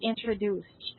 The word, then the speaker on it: introduced: So you have to pronounce letter D as letter T for the word introduced.